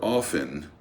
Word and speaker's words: often: Mind the O of off and often or often, which may or may not be pronounced as coffin.